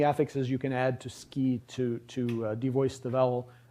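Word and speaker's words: 好き: So, uh here's the Japanese word for like and it's pronounced ki. Ski. So, the u isn't pronounced You can't You don't say suki unless you're being very slow and careful.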